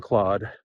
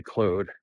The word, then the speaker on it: Claude: specifically on llama or uh you're working on Claude my wife always makes fun of me because I always say Cloe because I'm Canadian I speak French and I